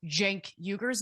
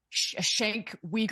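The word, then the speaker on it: Cenk Uygur: the Young Turks, he would know how to pronounce Jenkuger's name. It's not Shank Weaguer or whatever it is that he said.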